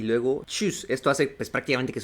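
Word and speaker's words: Tschüss: Halo haló haló adiós Es como cuando estornudas nada más que sin el a sin el achu nada más el chus chus literalmente es un sonido ligero de T y luego chus Esto hace pues prácticamente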